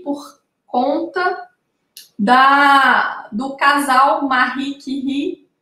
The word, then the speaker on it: Curie: É, na verdade, se escreve Curie, né? Curie. Mas, como é em francês, se pronuncia Curie.